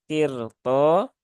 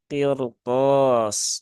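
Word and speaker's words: قِرْطَاسٍ: dia berharakat fathah ya maka dalam kondisi seperti ini rnya dibaca dengan tafkhim ya atau dibaca dengan bal ya maka tidak dibaca dengan qirto tetapi qir qirtos ya qirtos ya bukan qirtos ya ya itu kurang tepat jadi rnya dibaca dengan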